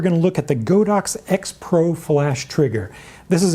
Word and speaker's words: Godox: Now, some pedantic people say that you should pronounce it Godox, but even if that's true, I don't care, because in the English-speaking market, Godox is a cooler name, so I'm going to